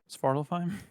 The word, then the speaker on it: Svartalfheim: you go back to Svartalfheim. Svartalfheim? Svartalfheim? I think I said it right. Svartalfheim? No, you're saying it fine.